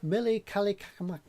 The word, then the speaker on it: Mele Kalikimaka: Sorry about the pronunciation. Mele Kalikimaka.